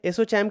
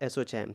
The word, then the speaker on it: ASSOCHAM: Next question है, एसोचैम के नए अध्यक्ष के रूप में किसे नियुक्त किया गया है?